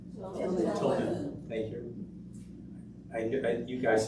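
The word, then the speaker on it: Tilghman: Thyman Tilman.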